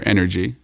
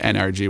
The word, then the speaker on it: NRG: The brand's NRG or Energy. Everyone pronounces it NRG, which drives me crazy.